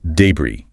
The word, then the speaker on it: debris: It looks like Deborris maybe. Stress on the first syllable. Stretch envy. That's the common misstep. Yeah. But this word is borrowed directly from French. Ah French again. And like many French loan words, that final zuz is silent and the stress is on the second syllable.